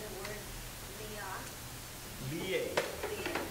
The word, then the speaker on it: liye: Liye. Liye Liya means to be absorbed in thinking. How do you spell that? L-I, long I, Y-E. Liye.